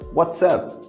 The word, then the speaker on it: WhatsApp: Lembrando que na pronúncia, eu junto, né, what e o up. WhatsApp, WhatsApp. O nome do aplicativo é WhatsApp, né? App, como se fosse de aplicativo, tá? WhatsApp e aqui WhatsApp. Seria bem parecida a pronúncia, né?